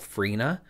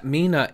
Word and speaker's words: 3INA: Now there's a brand out there called Mina which is spelt 3INA. 3, I, N, A, and they they were like “you know it's pronounced 'Mina' and not '3ina'” and I was like